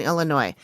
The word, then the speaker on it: Illinois: cities in the U.S states of Iowa and Illinois Davenport and bettencourth and Southeastern Iowa and Rock